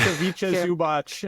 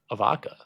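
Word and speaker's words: Ivica Zubac: That's a Vicha Zubach. And I can actually pronounce his name. It is Avicha Zubach. Avicha? I thought it was a Avaka.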